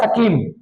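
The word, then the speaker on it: scheme: midday मल programme या सकीम एस सी एच ई एम क्या सर य स्पेलिंग होती है सकीम मिडडे सकीम यानी की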